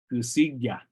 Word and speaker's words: gusigya: So, again, this word, the K sound can actually sound more like a strong G, like following the word usu. So to say he or she is angry, usu gusigya. That's at least in the Walker River, kind of the southern dialects areas. From Pyramid Lake, I do believe they will keep that K sound.